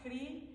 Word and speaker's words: Hridi: So, it's Casa like house, Hridi. It's a syllable, a Sanskrit syllable, h r i.